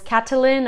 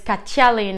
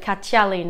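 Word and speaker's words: Kattalin: double t there um english speakers we might be tempted to call this catalin or cataline but it's katyalin in baskets like a chia sound a little bit catialin when you see the double t so maybe a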